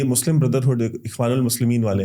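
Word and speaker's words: الإخوان المسلمين: एक चीज देखता हूँ कि ये मुस्लिम ब्रदरहुड, इख्वानुल मुस्लिमीन वाले हैं, they are threat to the West Asia also. You pronounce it absolutely correctly, इख्वानुल Muslimeen.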